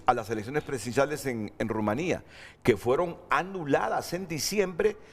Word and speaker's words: Rumanía: a las elecciones presidenciales aquí dice Rumania, pero la verdad que a mí el profesor Olegario y la profesora Priscila desde primaria me enseñaron a pronunciar Rumanía.